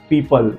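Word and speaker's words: people: let's see some एग्जांपल our first एग्जांपल इज पीपल ध्यान से देखिए पी ई ओ पी एल ई यहां पर ओ के पहले ई है हमने ओ को साइलेंट रखा है पीपल पी ई ओ पी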